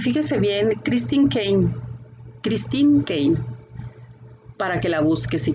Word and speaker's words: Caine: Se escribe Caine y se pronuncia Caine.